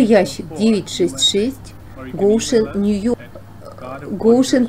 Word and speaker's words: Goshen: Goshen произносится Goshen, Нью-Йорк, 10924, Соединенные Штаты Америки.